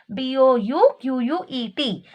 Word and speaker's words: bouquet: So T is the silent letter, and we spell this as bouquet, but while writing we write it with the letter T. The spelling of bouquet is Bouquet, but the way we